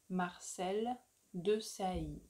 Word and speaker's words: Marcel Desailly: Marcel Desailly. Marcel Desailly.